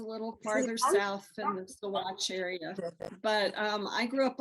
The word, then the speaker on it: Saguache: So, and it's pronounced Saguache.